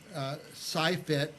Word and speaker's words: SciFit: Well, listen, I wanted to say one more time that put up this slide about the SciFit Fresno.